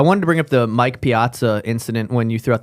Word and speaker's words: Mike Piazza: Have you seen Mike Piazza recently? No, I don't. Am I pronouncing his name right? Mike Piazza? Yes. So he is not in the public eye because he doesn't have a face anymore.